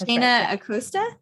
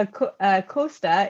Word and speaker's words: Acosta: your name correctly yes aosta aosta yes well that's like the Spanish yeah a a Costa is like the way